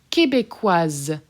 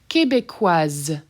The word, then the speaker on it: Québécoise: Québécoise. Québécoise. That S is done as a Z.